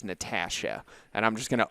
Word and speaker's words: Natasha: And I'm still struggling to pronounce the right word the right way, but it's Natasha.